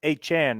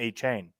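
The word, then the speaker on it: Achane: just smart let's get let's get his name pronounced a Chan not a chain he just put that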